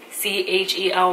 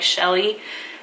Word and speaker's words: Chely: my name is Shelley chal why I know like a lot of people will try to pronounce it like Shelley um no it's ch not SH so my first name